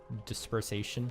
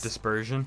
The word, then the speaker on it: dispersion: general with our oxygen dispersation. That's not the word I was looking for, but it was close though. It's dispersion. Dispersion. Sure. Yeah, you added a syllable.